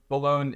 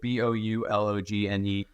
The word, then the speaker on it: Boulogne: It'd be Boulogne. It's spelled up here, but Boulogne.